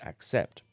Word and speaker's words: accept: at the pronunciation of the word accept the beginning of the word is spelled a c and sounds like this ack the second part of the word is spelled c e p t sept sept now let's put that together accept now you try it nice